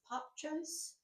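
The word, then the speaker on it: Popchose: Instagram it's called Pop I think it's pronounced pop chos p o p c h o s e it comes with five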